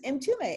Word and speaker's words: Mtume: introduced us and she said oh this is m2me and i said are you james m-t-u-m-e because